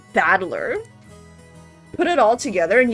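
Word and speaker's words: 戦人: Janren is made up of the characters for fight and person, and it's pronounced Battler.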